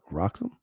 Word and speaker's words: RXM: What do they want me to call it? The Roxum? Read Wrexham as a word.